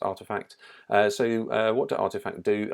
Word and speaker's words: RTFKT: This is Nike buying up RTFKT, which, as all the cool kids know, is actually pronounced Artifact.